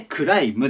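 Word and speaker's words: climb: をつけてくださいこれ最後の b これ発音しません de clive と言いますここでくらいだが b が部とか発音したくなるんですけどあそこ虫なのでクライムですで意味が山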